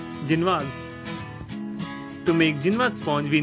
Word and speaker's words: Génoise: So many people also call it Genoise, but the actual pronunciation is Genoise.